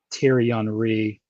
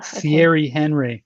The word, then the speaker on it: Thierry Henry: announcing the questions and he pronounced terry henry on the wrong way it was thierry henry yeah and i i